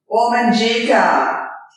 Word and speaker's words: Wominjeka: Wominjeka.